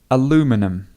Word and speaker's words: aluminum: This word depends on where you come from. So if you're from America or from North America, you will say aluminum.